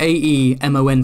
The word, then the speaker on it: Aemon: And I think that's because George told them and it was like, you're pronouncing it wrong. It's like... But you have the A-E-M-O-N for Aemon, but that's Aemon.